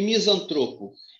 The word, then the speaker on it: misantropo: E misantropo? Misantropo é aquele que faz mal. Então, filantropo e misantropo são palavras paróx.